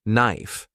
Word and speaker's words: knife: For example, when I first saw the word knife, I said it with the K.